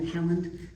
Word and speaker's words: Haaland: Not Holland, but Haaland, whatever.